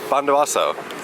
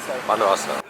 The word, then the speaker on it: Bondowoso: Bondowoso. Bondowoso.